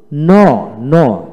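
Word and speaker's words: gnaw: জি এন এ ডাব্লু ন, ন। এন এ ন, অর্থাৎ জি এর উচ্চারণ হবে না।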